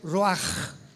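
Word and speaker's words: ruach: apunta la palabra espíritu del hebreo ru con ch se pronuncia roaj como con j.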